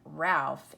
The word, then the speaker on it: Ralph: Well, look, it has PH at the end. You would think it would be R-A-L-F, but that isn't the way this is spelled. It's R-A-L-P-H.